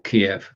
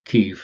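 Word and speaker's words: Kyiv: BeLive, the engineering part of BeLive, the team members in BeLive actually are in Kiev, or Kiev. Kiev is the Ukrainian pronunciation.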